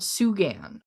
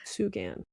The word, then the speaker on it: Sugan: There's a road by New Hope called Sugan Road. S U G- I think that's the pronunciation. Sugan.